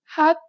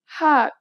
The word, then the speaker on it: 핫: This letter usually makes an H sound. In the 받침 position, you need to read it as T.